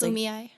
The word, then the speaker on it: Kumeyaay: It's Kumeyaay.